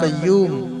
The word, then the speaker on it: قیوم: یا حیو یا قیوم۔ یہ جو قیوم ہے یہ بڑے قاف سے ہے، یاد رکھیے گا۔ اس کا جو تلفظ ہے، جو اچارن ہے، وہ حلق سے ہو رہا ہے، یا قیوم، یا حیو